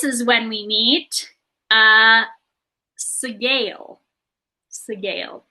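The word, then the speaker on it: Sgaeyl: Segale is how that's pronounced in the books, which is one of the largest blue dragons.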